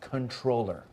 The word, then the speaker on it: comptroller: that was a misspelling comptroller is pronounced controller can I see something